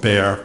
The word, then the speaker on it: Bexar: In 1981, I became chief medical examiner of Bexar County, Texas. And for the transcriber, Bexar is spelled B-E-X-A-R, the X is silent.